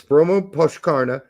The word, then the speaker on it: Brommapojkarna: You're like, how do you pronounce that shit? Talking to the wrong person here. Yeah, it's Bromma Pochkarna, and they lost.